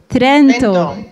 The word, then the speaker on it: Trento: we have question from simonetta sorry for the pronunciation university of toronto trent tyrant how would you say that trento thank you some dma obligations sorry for i